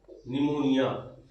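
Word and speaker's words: pneumonia: पी से start. क्यों? P silent होता है।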